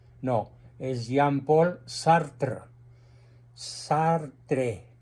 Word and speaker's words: Sartre: es Jean Paul sartre sartre y se pronuncia sartr porque el francés se come la e final sí Entonces corrígelo por